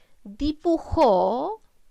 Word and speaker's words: dibujó: Dibujó es una palabra aguda. ¿Por qué? Porque está cargada la voz en la última sílaba y lleva tilde porque termina en una vocal.